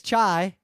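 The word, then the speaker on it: çay: And the word for tea is chai. Oh, that's a hard word. It's spelled differently. It's spelled C-A-Y.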